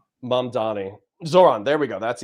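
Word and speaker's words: Mamdani: So, I would say I would pronounce that as mom, like my mom, and then Donnie, like a girl named Danny. But I'm changing the D to an O.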